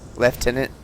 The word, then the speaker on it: Lieutenant: to words change spellings change the way they're pronounced changes and so people just kind of have to go with it Lieutenant leftenant so yeah I've I've run into a couple